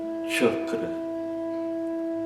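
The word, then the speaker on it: चक्र: Então, na palavra chakra, por exemplo, ela não é escrita na transliteração do sânscrito com CH, é simplesmente o C, e tem esse som chakra, né, que são os centros energéticos dentro do nosso corpo.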